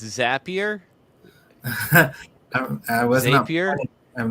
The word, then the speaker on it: Zapier: to the paywell um zapier like happier all right thank you